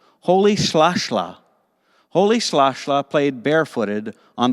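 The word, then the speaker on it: Rolihlahla: african name which is spelled with an r but actually says sound pronounced like this holy slashla holy slashlaw played barefooted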